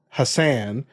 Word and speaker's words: Hasan: minhaj by the way I try to pronounce his name the way he prefers to pronounce it because Hass and Ali Hassan are actually very similar they're the same name just one has two s's in it but they're the same name originally from Arabic so why do I pronounce them differently I just do but I'm just trying